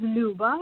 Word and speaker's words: Luba: My name is Luba, which is a very typical Russian name.